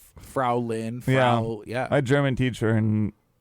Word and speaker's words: Frau: So Frau? rhymes with cow.